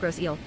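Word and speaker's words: Grosse Île: Ladies and gentlemen, as we continue our flight at 35,000 ft, below us is Gross Aile. Gross, French, Gross Aile, pronounced Grossielle, Big Island, is an island located in the St.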